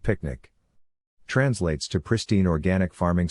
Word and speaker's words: PQNK: glossery pq picnic Peter Krainam cashiari pronounced picnic translates to pristine organic farming system a regenerative